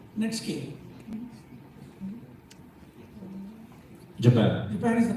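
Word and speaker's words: netsuke: iory net scale SW it is n Su pronounced net scale Japan Japan is the correct answer they asked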